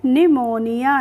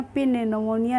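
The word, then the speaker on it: pneumonia: तो इसको हम पढ़ेंगे निमोनिया इसमें जो पी है उसका हम प्रोनाउंस एशन नहीं कर रहे हैं इसीलिए हम इसको पढ़ रहे हैं निमोनिया पि निमोनिया नहीं पढ़ रहे हैं ठीक है फ्रेंड्स तो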